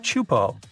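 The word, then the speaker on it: Teahupoʻo: It's pronounced Chupo, and it means broken skulls in Tahesian.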